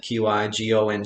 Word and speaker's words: qigong: practice right a lot of people can't even pronounce it q i g o ng it is a chinese word word from the